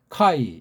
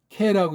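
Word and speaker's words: καί: 카이, 이건 캐라고 읽어야 되죠. 캐.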